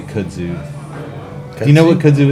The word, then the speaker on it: kudzu: How do you say kudzu? Do you know what kudzu is? Yes. Oh, of course you do. I said kudzo, I think, when he first gave it to me.